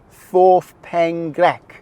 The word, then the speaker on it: Ffordd Pen Llech: If you try to pronounce it in Welsh, I'm not very good at this. Fourth pench. I think it's something like that.